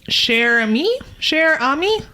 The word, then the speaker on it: Cher Ami: All right, I might pronounce this wrong. This Sure. is French and cher ami.